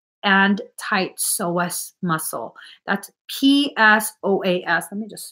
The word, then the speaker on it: psoas: That's PSOAS. Let me just spell that.